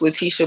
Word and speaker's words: Letitia: Yes, it's pronounced Letitia, by the way.